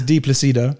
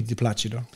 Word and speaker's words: Di Placido: My in English is Di Placido. Di Placido. Yeah. But if you're in Italian pronunciation would be Di Placido.